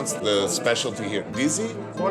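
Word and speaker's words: dizi: How do you pronounce the specialty here? Dizzy. What they serve is called DZ, which actually is the name of the pot.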